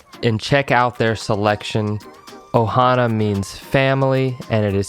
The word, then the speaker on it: ohana: bar dot com and check out their selection ohana means family and it is spelled o-h-a-n-a and kava is spelled k-a-v-a you